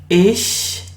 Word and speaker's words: Ich: It is Ich bin. Ich bin. So this sound, CH, you pronounce as sh.